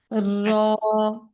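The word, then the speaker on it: راء: মাশাল্লাহ এখন হচ্ছে আমাদের র উচ্চারণ করার পালা র শব্দটা হচ্ছে মোটা শব্দ এটা হচ্ছে জিহ্বাটাকে উল্টো করে উচ্চারণ করতে হয়তো সবাই জিব্বাটা উচ্চারণ উল্টো করে উচ্চারণ করব একটা আমরা একটা আওয়াজ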